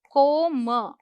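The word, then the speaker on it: comb: ध्यान रखें इसे बोलते हैं कोम। ठीक है? बी साइलेंट है।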